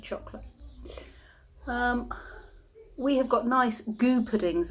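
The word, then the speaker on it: Gü: We have got nice goo puddings. I don't know if you know what goo is. It's spelt G-U.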